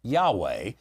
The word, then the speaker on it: Yahweh: And by the way, a modern Hebrew speaker would probably pronounce it more Yahweh than Jehovah.